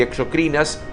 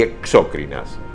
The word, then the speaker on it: exocrinas: Los vocablos endocrinas y exocrinas, adjetivos que sirven para calificar a las glándulas hormonales, deben ser pronunciados como palabras graves y no esdrújulas. Por ello, incurre en error el galeno que habla de endócrinas y exócrinas.